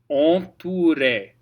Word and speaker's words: entouré: Now OU is always oo, oo, entouré, and then the re has an accent soufflé, and so you want to accent that, and the A is the important part. Entouré, entouré, that's where everything's going.